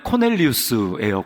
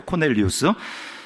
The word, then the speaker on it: 코넬리우스: 이 로마식 발음 그대로 하면 코넬리우스예요. 코넬리우스.